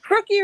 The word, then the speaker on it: Brookie: Brookie rhymes with cookie.